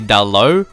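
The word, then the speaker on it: Dalot: his name it's actually down low you don't pronounce the T and then from Portugal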